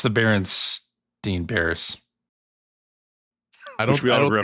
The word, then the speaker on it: Berenstain: It's the Berenstein Bears. Which we all grew up calling the Berenstain Bears. First of all, it's Berenstein. Stein. There you go. Yeah. We still grew up calling them Berenstain Bears, though.